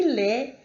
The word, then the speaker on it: laid: significa aluno, nous, que é nós, não é pronunciado o S, nez, que significa nariz, e laid, que é feio, ok?